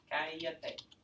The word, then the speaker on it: Cállate: Where does the accent go? On the first day. On the first A, the third to last syllable. Aw. Aw. What did I just do? That's strange. Cállate.